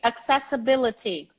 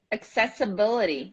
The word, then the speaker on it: accessibility: one of those words that and syllable is pronounced so repeat after me accessibility accessibility accessibility accessibility you can pronounce the T as